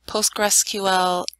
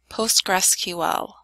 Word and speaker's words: PostgreSQL: we're going to be installing Centel s7 and PostgreSQL 9.4 there will not be any ads in this video a quick word about pronunciation it is pronounced PostgreSQL or Postgres for short you only need to